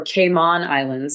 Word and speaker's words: Cayman Islands: The Cayman Islands or Cayman Islands as I'm told it's pronounced actually had beautiful, beautiful weather.